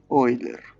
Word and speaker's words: Euler: El número de Euler se pronuncia Euler.